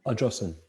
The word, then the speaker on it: Ardrossan: Was that how you pronounce it, Simon? Ardrossan.